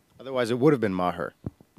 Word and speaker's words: Maher: we were catholic otherwise it would have been mahur yeah right I drove my mother nuts that mispronounced yeah Mah with the H in the